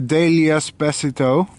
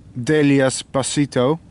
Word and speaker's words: Delias pasithoe: And I believe this species is Delias pasithoe. Or I should say Delias pasithoe. It's a better Latin pronunciation, I think.